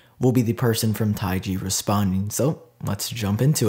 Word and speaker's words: TaiG: originates from an ancient Chinese philosophy and is pronounced taii in Chinese the third question is it is